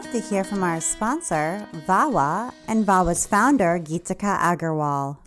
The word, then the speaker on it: Vawaa: I want to take a minute now to hear from our sponsor, Vawa, and Vawa's founder, Geetika Agarwal.